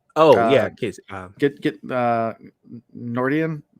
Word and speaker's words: Gneorndin: get Nordian. I'm not sure the G is silent, but I didn't write it down. Gneorndin.